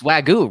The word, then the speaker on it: wagyu: go baby vw bun i taught them how to pronounce wag u which i also didn't know until we started partnering with hassel cattle company ryan i don't think anyone knew i mean it's wagyu right i mean until you